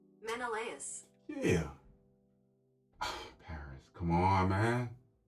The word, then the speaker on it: Menelaus: Menelaus.